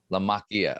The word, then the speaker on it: LaMacchia: like, do I actually remember how to properly pronounce John's last name? Because is it LaMacchia or LaMacchia? LaMacchia.